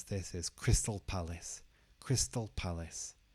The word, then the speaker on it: Crystal Palace: would pronounce this as Crystal Palace Crystal Palace not Crystal Palace Crystal Palace and the palace is stressed in the first part so it's not Palace